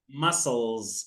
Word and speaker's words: muscles: wait wait say musle muscles muscles muscles is not pronounced no we don't pronounce c we just say muscles okay good come on